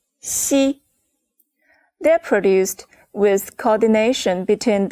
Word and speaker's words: xi: Pay attention, the shape of your mouth is like a smile. Ji, qi, xi.